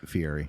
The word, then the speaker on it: Fieri: guy fieri is pronounced he said fieri with an r fiery fan i'm just saying